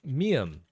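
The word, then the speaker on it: 미음: The mium is M, just like a mom, me, Mary. M sound works fine.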